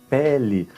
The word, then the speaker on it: pele: Então Pelé é o jogador, com acento, Pelé, e aqui, como não tem acento, a pronúncia será como I. Então, pele, olha a diferença, um acento pode mudar o significado da palavra.